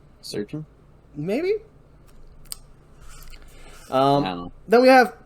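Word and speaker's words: Srdjan: less valve than I am typically used to pronouncing in that verse name surgeon Maybe um then we have pavela girenic Lazar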